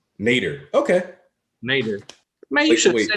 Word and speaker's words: Nadir: Nadir. I gotta fix this now that I'm a part of the congregation. And it's pronounced Nader.